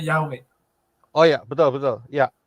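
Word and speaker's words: Yahweh: itu di pronunciation-nya yahwe tadi kan dibilang dilafalkannya diucapkannya yahwe Oh ya betul betul ya terima kasih terima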